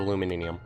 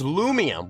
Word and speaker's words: Lumium: And yep, there we go, we got ourselves the Luminium. How do you pronounce that? Oh, it's Lumium! Why was I saying, why did I put an N in there?